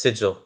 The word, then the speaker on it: Sigil: Pronounced Sigil.